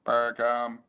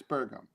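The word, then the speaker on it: Burgum: have to pronounce it buram or like it's like sorghum but it's bergam all right um let's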